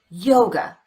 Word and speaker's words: yoga: or the uh sound same thing happens with the word yoga the second syllable is unstressed we replace the letter A with the unstressed vowel the uh sound and we get away from that syllable as quickly as we can Jesus heard the presentations